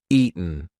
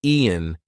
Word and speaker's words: eaten: That T is followed by a weak N sound. So we are not going to say eaten. We're going to say eaten. Eaten. Now listen. If I don't use the glottle stop, if I don't say any kind of T pronunciation, Ian, Ian, that does not work.